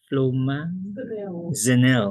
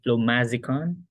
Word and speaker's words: flumazenil: Flumazenil. Okay, flumazenil. Or no, you combine romazicon and flumazenil. No, flumazenil is the generic. Romazicon is the brand. I think you said you said flumazicon. Flumazenil. Okay, it's flumazenil.